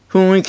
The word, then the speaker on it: 雰囲気: が分かると思う雰囲気っていうね雰囲気って読むんだけどそれ